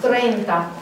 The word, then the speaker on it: treinta: 30 is treinta. Don't try to do that tre. Get that. You can't. It's hard to get treinta out. Hear how tough that is?